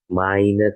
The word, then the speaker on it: meine: Lalu seterusnya, jika huruf E lagi ini ya bertemu dengan huruf I, maka dibaca menjadi AI. Ya, maka di sini kalimatnya menjadi meine Katze.